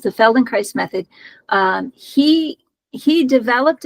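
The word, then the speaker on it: Feldenkrais: k r a i s so it's the Feldon Christ method um he he developed a method um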